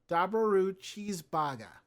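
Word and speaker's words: ダブルチーズバーガー: double cheeseburger double cheeseburger however because of Japan's language limited number of constant Blends and lack of a terminal R sound it gets it gets pronounced as daaru cheese Baga among fans through McDonald's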